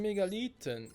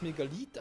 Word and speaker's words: Megalith: Die Frage ist, spricht man es Megalith aus oder Megalyth? Eigentlich ist es kein Y, also müsste es I sein, aber irgendwie klingt es falsch in meinen Ohren.